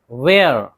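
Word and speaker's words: where: वेयर, वेयर माना कहाँ, एच है नहीं पढ़ेंगे।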